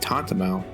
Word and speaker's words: tantamount: Tantamount. Tantamount to asking him to betray the company. That's weird. Never heard that word before. It rhymes with testament, but tantamount?